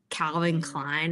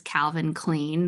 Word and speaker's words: Calvin Klein: So like Calvin Klein I read as Calvin Clean the first time ever